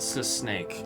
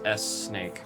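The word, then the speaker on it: S-Snake: It's not sis snake. It's s snake because in Japanese it's just the letter S there.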